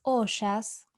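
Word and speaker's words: ojas: La palabra sánscrita para inmunidad es oyas. Oyas, esta J se pronuncia como SH y es considerada la capacidad de un individuo para mantener su salud y evitar las enfermedades en general.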